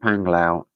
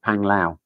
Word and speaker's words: Panglao: Um, Julian keep cracking up when you say panglao. Um, you say it like panglau, but Filipinos pronounce it panglau.